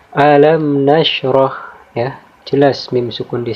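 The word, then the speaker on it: أَلَمْ نَشْرَحْ: Dan contoh yang kedua di sini ada alam nashrah, ya.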